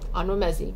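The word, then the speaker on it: Onwuemezi: by vanessa i also looked up how to pronounce this onwa messi all right ano messi got that this is a short story collection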